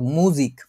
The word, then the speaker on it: Musik: মিউজিক না, কিন্তু মুজিক, ময়রস্যু বরিকল জয়রস্যি ক, মুজিক। একই জিনিস, কিছু কিছু জায়গায় জার্মান ভাষায় হচ্ছে একটু ভিন্নভাবে এটার উচ্চারণ হয়। এটা হচ্ছে মুজিক।